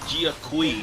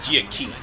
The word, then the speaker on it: Jia Kui: And as soon as Jia Kui shows up, or Jia Ki, that's probably the best name for him, because I think the U is silent.